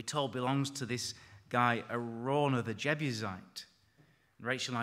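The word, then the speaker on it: Araunah: belongs to this guy a rauna the jebusite and Rachel and I discussed how to pronounce that name our Runa around her we settled on a rauna this nice name isn't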